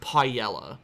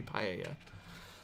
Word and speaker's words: paella: it but to me that's like pronouncing paella as pie yellow even though just because oh everyone says i like that that like sound that sounds stupid it should be paella because that's how it is in spanish like it's it's obviously a spanish word to me so it should be pronounced spanish anyway are you carrying